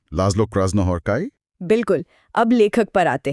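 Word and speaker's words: László Krasznahorkai: अच्छा एस जेड का उच्चारण स जैसा। ठीक है। लाज्लो क्रॉस हॉर्काई बिल्कुल।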